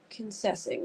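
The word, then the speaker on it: Kingsessing: Kennessing, that's how you say it.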